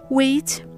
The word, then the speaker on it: weigh: The question is, when is the GH silent? As you might have noticed, after the diphthong sound A and I, as well as after the diphthong sound O or the vowel sound O.